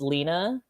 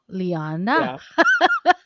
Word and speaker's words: Lyanna: the times you know they mispronounce it just because they see the one end so they assume it's lena or they just call me leanne and you're like no lyanna yeah or like or